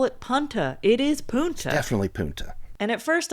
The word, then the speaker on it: Punta: All right, so our story begins in Punta Gorda, Florida, but Keith calls it Punta Gorda. They were new to Punta Gorda. What do you think? He does call it Punta. It is Punta.